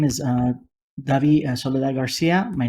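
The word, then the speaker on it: Dabi Soledad Garcia: thank you very much thank you sir uh solid Garcia Miss Garcia thank you my name is uh Davi Sol Garcia my name is spelled d a b i s o l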